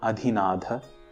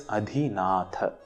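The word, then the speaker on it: adhinātha: One important thing to note here is the distinction between the pronunciation of dha and tha in adhinatha. It is not adhinadha, it is adhinatha.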